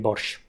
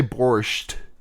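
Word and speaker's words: borshch: with a T and there's no T in Ukrainian borch. Yeah, we we Americans we Americans do love to say borched.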